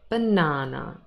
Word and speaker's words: banana: a fruit a banana we have three syllables here and the middle one is stressed we say banana banana it is not a